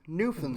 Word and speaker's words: Newfoundland: So it is Newfoundland.